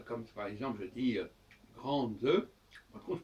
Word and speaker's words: grande: Ce n'est pas grande, je dis grande. Donc je prononce le D, et le E m'indique que je dois prononcer le D, et s'il n'y a pas de E, ça devient grand, et à ce moment-là, il n'y a plus de D.